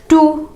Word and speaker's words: two: टू, TWO2, यहाँ पर भी W साइलेंट होता है।